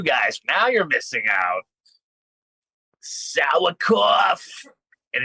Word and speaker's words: Sowah: now you're missing out, sour cough, and it's spelled SOWAH. It's really sour. It's like exactly how I say it.